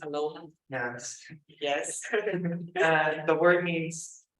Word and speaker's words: aloha: that everyone coming says it's a right to pronounce it like Aloha just Aloha yes yes the word